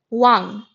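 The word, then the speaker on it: 왕: Now when comes at the end of a syllable then it is pronounced like an for example look at this word wang.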